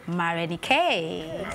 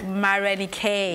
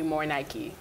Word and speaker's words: Marenikae: is it pronounced Marenikae or Marenikae? Marenikae is my actual name. Marenikae is my stage name, like David and Marenikae. Davido. Okay, so right. Why? How? I mean, the pronunciation is different, right? Mm-hmm. Marenikae. Mm-hmm. So, what were you trying to achieve? Because living in Atlanta, people always want to call me More Nike.